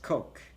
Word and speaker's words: Koch: It's pronounced Coke. She's right, Coke.